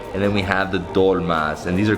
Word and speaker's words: dolma: And then we have the dolmas, and these are called dolomos, or how do you say them?